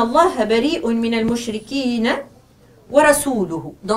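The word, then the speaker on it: رسوله: si l'on peut dire, il lui a suggéré de mal prononcer le mot « rasuluhu » et de dire « rasulihi ». Donc, et cela, le changement de cette petite voyelle change le sens du verset coranique du tout au tout.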